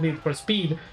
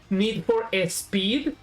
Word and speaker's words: Need for Speed: Like, I keep saying Need for a Speed like with an S sound at the beginning.